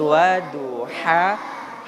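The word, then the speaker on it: وَضُحَاهَا: H kecil bacanya itu kita sedikit ditahan. H itu H kecil. Tapi kalau dia H besar, seperti orang ketawa. Ha. Itu H besar. Jadi dilepaskan kayak mana orang ketawa. Ha. Itu H besar. Jadi bacanya waduha.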